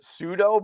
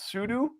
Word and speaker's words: sudo: Like I always call it, like, you know, when you up your user right, I always called it sudo, but apparently it's sudo.